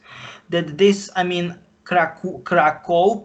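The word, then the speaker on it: Kraków: this i mean kraku krakow is a written krakow but in polish language it should be like krakow they are polish people are you know uh pronouncing it krakow of course krakow it's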